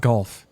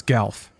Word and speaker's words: Galf: go golf galf farewell not golf it's galf this game mispronounces a